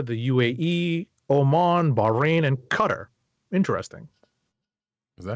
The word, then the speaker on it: Qatar: is it Qatar could cut her I've heard it both I've heard it pronounced both ways gotcha or I've also heard it pronounced actually another way gutter like the Q is a g gotcha so badinesia folks